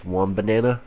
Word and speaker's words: Wombana: I call them one banana. I guess that's actually how you pronounce it, is Wombana.